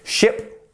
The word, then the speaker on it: ship: long e you see so ship ship is a quick a quick sound ship ship whereas sheep we're